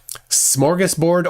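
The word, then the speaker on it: smörgåsbord: the poll uh Gus's a ring is a Swedish o like a long o all right there's your answer smorgus board or schoras board uh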